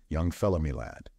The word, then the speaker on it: young fellah me lad: Young fella my lad this curious phrase he pronounced as if it were all one word young fellow me lad yes we've taken a